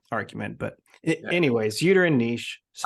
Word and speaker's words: niche: So, well, not argument, but anyways, uterine niche. I'd appreciate it if you pronounced it niche for the rest of the pod, Niche.